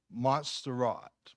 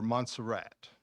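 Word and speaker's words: Montserrat: at it and it's a font called monat or monserat it's English or American pronunciation it's modern uh it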